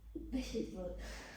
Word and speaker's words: vegetable: ¿Esto cómo se pronuncia? Vegetable. Vegetable. Eso no se pronuncia.